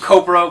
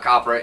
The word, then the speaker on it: Copra: Fay brings you another issue of Copra. We've been pronouncing it wrong. It is not Copra. It rhymes with Oprah.